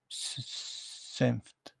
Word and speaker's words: Senft: Do you pronounce the T, the F? Senft.